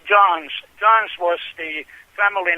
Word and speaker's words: Johns: even mispronounce his name they think that it is John no it is John's John's was the family